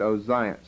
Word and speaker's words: Ozias: jehoram and uh Zion but here in Matthew in the Greek form of the Hebrew words they're pronounced joram and ozias okay then look down at verse 8.